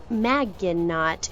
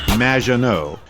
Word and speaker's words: Maginot: Maginot, welcome to the show. Thanks, Amy. However, you have mispronounced my name. It's Madge, which rhymes with badge, as in duh, and no as in more than you. Maginot.